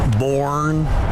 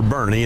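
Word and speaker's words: Boerne: Born, Bernays. Bjorn, Burn. They always say born. We tell people weekend at Bernie's or Bernie.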